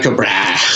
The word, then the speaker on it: Tycho Brahe: And that's the coolest name ever, Tycho Brahe. Tycho Brahe. I don't even know if I say it right. I know you are saying it right. Is that right? Yeah. It's like Tycho Brahe.